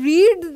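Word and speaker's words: read: তাহলে রিড এর third form হচ্ছে রেড।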